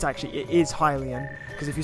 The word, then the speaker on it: Hylian: sword hyrulean Hylian sorry III call it a hyrulean and then I get told I'm wrong for saying that because it's pronounced Hylian well it's actually it is Hylian because if you say